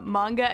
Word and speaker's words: manga: And I remember back then I kept pronouncing it manga when I would talk to her. And she'd kind of whip around and be like, it's manga. My brother told me that